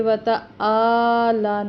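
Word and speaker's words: تعالى: الف کے برابر، وتعالی، یہ وتعالی نہیں ہے کیونکہ یہ حمزہ کی آواز ہے آ، یہ عین ہے تو عین کا تلفظ نکالنا ہے، وتعالی جدک۔ اس میں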